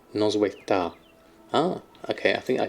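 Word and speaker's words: Noswaith dda: What's DDA? Is that just da? Is that how it's pronounced with the silent first D? Noswaith da.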